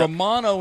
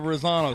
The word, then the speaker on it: Rosano: I said Romano instead of Rosano.